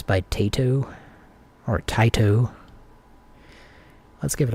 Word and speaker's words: Taito: Metal Black by Taito, or Taito. It's Taito. I just, I grew up in Oklahoma, and we said Taito. But I'm pretty sure now I know it's Taito, so I'm going to say it correctly.